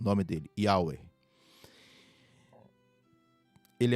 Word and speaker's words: Yahweh: O Senhor aqui é o tetragrama sagrado, Yahweh, traduzido como Jeová, Yahvé, mas a pronúncia, segundo os discípulos de Yeshua nazarenos, eles dizem que é Yahweh, o nome dele, Yahweh.